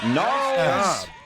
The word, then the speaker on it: Gnarls: Gnarls Barkley. Man. Gnarls Good guys. Barkley. Good It's a guys. soft Come G on. there. Yeah, that's what I was It's a soft G. Soft G hurts.